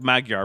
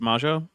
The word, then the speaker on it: Magyar: It looks like Magyar, but apparently it's pronounced Majo.